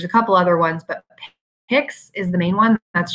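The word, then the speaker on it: PICS: And their own brand, mostly what you'll see, there's a couple other ones, but Picks is the main one. That's just not P-I-C-S. It's pronounced Picks as a one word.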